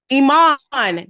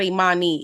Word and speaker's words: Iman: on girl on manoun they said I m a n Iman that's his name Iman it's not imanii it's Iman my bad sh is